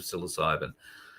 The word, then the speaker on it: psilocybin: Psilocybin, 1.5 grams of psilocybin. I've heard of most drugs. The only reason I can pronounce that one is because it's popped up